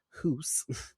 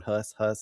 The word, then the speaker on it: Hus: Todd Thawley is portraying Hoos, which is spelled H-U-S, and I was all doing my notes, and I'm writing down Huss, and then I realized they're saying Hoos on the fucking screen. I'm like, or on the TV, and I'm like, All right, great. Time to go back and edit all that and put HOOSE so I don't mispronounce the whole episode. So, who's not Hus.